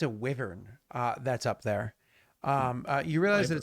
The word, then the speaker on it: wyvern: realize that it's a wyvern uh that's up there um you realize that it's a wyvern um uh or why vern if you choose to pronounce it that way um it does